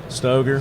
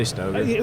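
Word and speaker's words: Stoeger: I never know how to pronounce the name. Stoger. Stoger. Okay. I say Stoger.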